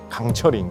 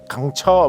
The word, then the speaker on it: 강철: 이렇게 하면 외국인들이 강철 정확하게 발음이 안 돼갖고 강처 막 이렇게 하면 강철 강처 막 이렇게 하는 그런 이야기가 묘사돼 있어가지고